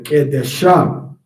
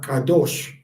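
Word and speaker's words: קדש: Um the female that's entering into pro temple prostitution is called a a ques a kadesha and the man is called kadesh not kadosh and that's why it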